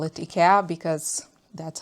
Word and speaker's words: IKEA: In the US and I think Canada, you pronounce it IKEA. In Europe, we call it at least in Austria and in Sweden where Ika is from, we say.